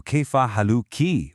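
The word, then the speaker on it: كيف حالكِ: For a woman, it changes to kaya haluki with a clear e sound.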